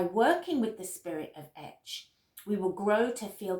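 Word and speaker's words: Ech: So the horse is pronounced etch in Druidic. E-C-H, et or etch.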